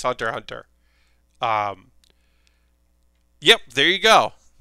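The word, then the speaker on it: Hunter × Hunter: cross street fighter but in the case of hunter hunter the x is silent and it's just called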